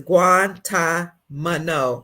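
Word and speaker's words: Guantánamo: well Jeffrey Guantanamo guanto Bay Leland says is guant mano oh guant Mano thank you guant Mano B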